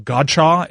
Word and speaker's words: Godchaux: Hakeem Spence and Devon Godchaux if that's how you pronounce it I always want to say gotcha Kayla when I see